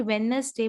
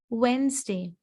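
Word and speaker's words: Wednesday: इट इज नॉट वेडनेसडे बट इट इज वेंसडे. वेंसडे.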